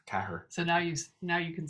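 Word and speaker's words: ceathair: it, is TG Cahir, because Cahir is how you say 4. Cahir.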